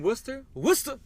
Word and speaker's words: Worcester: New England's own jointer motherfucking Luke wizzy from Worcester Worcester please pronounce it Massachusetts Worcester a bar would say